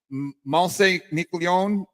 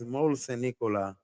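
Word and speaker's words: Môle-Saint-Nicolas: How do you pronounce it? Mont Saint Nicolas. How does that go? It's Mole Saint Nicolas.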